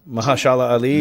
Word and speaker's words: Mahershala Ali: See, Mahershala Ali, is that how you say his name? Mahershala Ali, yeah.